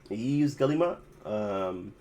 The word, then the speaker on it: Yves Guillemot: Yes, Eves Guillemot. or something like that. Yves Guillemot.